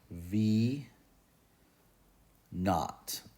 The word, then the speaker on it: V naught: you know this V Sub Zero this is pronounced V not n-a-u-g-h-t that's how it's pronounced in a physics